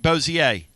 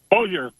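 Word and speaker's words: Bossier: Am I pronouncing that right? Bozier. Bojer. Bojer. Damn it. That's okay. See, I wanted to I wanted to give it the the French thing and now you're going Boer on me.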